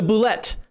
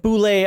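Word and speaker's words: bulette: that's exactly what it is yep it's the bullet and no before somebody argues with me and says it's pronounced boule you it is not how do you get boulet out of this and the first [ __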